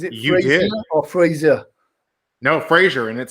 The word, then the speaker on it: Frazier: So, is it, first of all, did I pronounce that right? Is it Frazier or Frazier? No, Frazier, and it sounds much better with your accent.